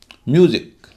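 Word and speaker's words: music: म्यूजिक, म्यूजिक में एम यू पहला syllable है, बाद में है एस आई सी, उच्चारण हो रहा है यू, म्यूजिक।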